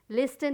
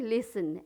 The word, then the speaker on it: listen: उसी तरह लिसन, लिसन, लिस्टन नहीं, लिसन, LISTEN, लिसन।